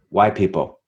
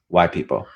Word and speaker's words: wypipo: man Dodge that uh okay uh it explains y people and that's spelled Wy p i p o and it's pronounced y people y people so so when we get down